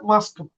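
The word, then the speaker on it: Москва: যেমন মস্কোবা, তো এটা কি হবে মাস্কাবা। তো দেখেন লাস্টে স্ট্রেস পড়ছে কে ভে আর কে ভা আর এর উপরে, সো এটা কি হয়ে গেছে মাস্কাবা, মাস্কাবা।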